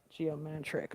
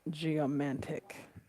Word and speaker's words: geomantic: first said it but I think I said geometric but it's geomantic so the definition of that